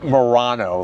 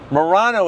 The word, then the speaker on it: Murano: If you ever wondered what the heck is moriranno, first of all, remember it's spelled with a u, mu. It's not morirano, like some or moronic thing. Morano is actually a v a type of Venetian glass.